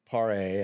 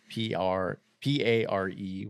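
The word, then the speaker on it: Paré: in '84 with Michael Pare. I think that's how you say it. It's Pare with the little thing above the E.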